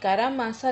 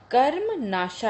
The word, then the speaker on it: कर्मनाशा: Okay, तो यहाँ पर थोड़ी सी स्पेलिंग मिस्टेक है, ये कारामासा नहीं है, कर्मनाशा है।